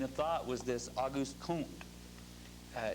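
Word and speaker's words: Comte: thought was this August kunt uh it's spelled c-o-m-t-e but it's pronounced C long o n t cone August kont and he believed you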